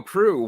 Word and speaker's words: Proulx: Yeah, and I so should have asked him how to say his last name, but You mean Proulx? there you go, Proulx, Warren Proul Jr., ladies.